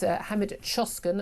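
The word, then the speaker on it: Hamit Coşkun: Uh what I'm asking you about this morning um about this man uh this is Hammed Choskin I understand his name is pronounced uh he's a he's an asylum seeker from Turkey.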